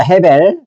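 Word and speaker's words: הֶבֶל: 그러면 아벨의 원래의 발음은 뭐예요? 해벨입니다. 헤벨.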